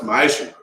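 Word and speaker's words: מעשר: Means tenth in the Hebrew and is pronounced ma'ashur.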